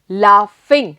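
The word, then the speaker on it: laugh: तो लाफ में देखो बेटा, ये तो क्या हो गया? ला. और जी एच को हम क्या लिख रहे हैं? फ. यही लिख रहे हैं ना. तो जी एच का साउंड क्या आया बेटा? इट इज फ. यहां पे हमारा जो साउंड आ रहा है वो है फ.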